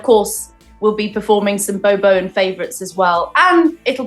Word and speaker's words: Beau Bowen: Our band is spelt BEAU. That's Beau, and then BOWEN. So Beau Bowen.